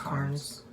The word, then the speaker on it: Carnes: It's N-E-S. That's still pronounced It's Carnes.